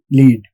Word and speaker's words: lead: It actually rhymes with the word need. Need, lead.